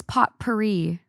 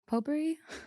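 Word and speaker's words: potpourri: Poperri. But it's spelled pot. They used the word P O T. P O U R R I. Oh, okay. I don't know what. That's how you spell Poperri.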